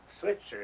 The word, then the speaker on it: Schweitzer: Burl Joe Schweitzer is the way Switzer is the way this, our coach here, you pronounce his name there.